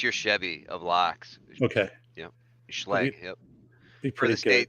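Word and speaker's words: Schlage: Is that how it's That's the pronounced? common house brand. That's like that's your Chevy of locks. Okay, Schlag.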